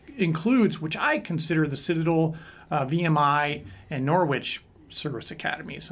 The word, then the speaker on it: Citadel: And then you went on to university, the Citadel. I did. Now they pronounce it Citadel, right?